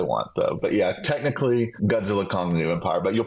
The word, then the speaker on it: Godzilla x Kong: this it is just Godzilla Kong the new imp the new Empire the x is silent is that right uh